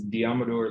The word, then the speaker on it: Deommodore: screwed up uh so is diameter that's how you say and it's been screwed